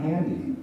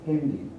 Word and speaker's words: Handy: but are not English the word for cell phone for example in German is Hindi right and it's not handy it's handy right so it's adapted to the German pronunciation the word for that